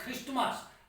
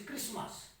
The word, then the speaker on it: Christmas: At the time of pronouncing, T remains silent, so we should not pronounce it as Christmas, rather it is Christmas.